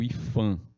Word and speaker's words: IPHAN: Se é P, por que pronuncia como se fosse som de F?